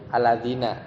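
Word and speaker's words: الذين: mikir kalau mau RAA mansub majrur bacanya alladzina gitu kan Tapi kalau mau ngikut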